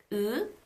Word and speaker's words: 의: 의, 이, 의, 의. That's how you get 의. Now this is the standard pronunciation of this diphthong, 의. You pronounce the ư and the e in one shot.